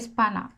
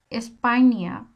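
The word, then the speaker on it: España: দেখেন আমি এখানে লিখছি নরমাল যদি পড়তে যাই তাহলে পড়বো কি স্পানা আসলে কিন্তু স্পানা স্পাইনিয়া স্পাইনিয়া স্পাইনিয়া স্পাইনিয়া স্পাইনিয়া কি পড়তেছি স্পাইনিয়া আমরা কি বলি স্পেইন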